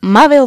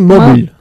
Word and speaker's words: mobile: Jackie's new mobile phone. Mobile. ¿Cuántas veces tengo de decirlo? Mobile. No se dice móvil. Mobile. Es diferente. Mobile.